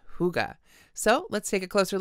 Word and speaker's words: hygge: heart hygge that's right hy Gigi E is pronounced hygge so let's take a closer look at this